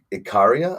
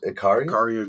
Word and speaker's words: Ikaria: And then how do you pronounce the place in Greece? You're looking at Ikaria, I believe. Ikaria, Greece.